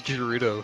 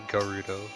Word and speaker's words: Gerudo: I thought it was Gerudo for a while, but it's apparently Garudo.